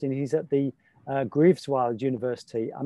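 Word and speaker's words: Greifswald: he's at the uh grieves wild university i'm not sure i've said that correctly grief filed how do you say it thomas i think it's cripe's fault but that's the very german pronunciation at that time christopher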